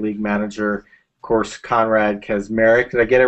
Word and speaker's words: Kaczmarek: I think it's actually pronounced Kaczmarek in the original, what is it, Polish?